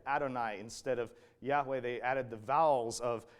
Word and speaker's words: Yahweh: 3,000 years but yhwh it probably originally was pronounced something like Yahweh um but their reasoning